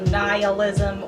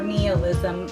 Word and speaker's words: nihilism: from Cheerful, Nihilism or Nihilism. Both of those pronunciations are correct.